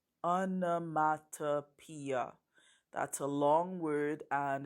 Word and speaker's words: onomatopoeia: learn about a special poetic device it's called anomatopoeia Anna Mata Pia that's a long word and it's kind of